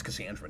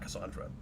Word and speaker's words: Cassandra: yeah yeah you have it's cassandra not cassandra it's never been cassandra cassandra or it might